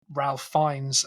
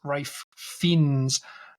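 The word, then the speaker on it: Ralph Fiennes: p at me for not being able to pronounce Ralph fines as ra fins very well so from going forward every single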